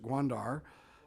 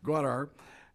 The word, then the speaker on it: Gwadar: The province's major port, let me pronounce it, Gwadar, thank you. Thank you very much. Gwadar.